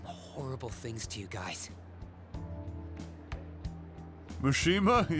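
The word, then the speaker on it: Mishima: Mushima. Yes, exactly. That's the proper pronunciation and I won't hear otherwise.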